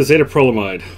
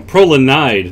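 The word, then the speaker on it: Prolanide: you can rush okay i'm sorry i even said it wrong prolonide not mine we don't want to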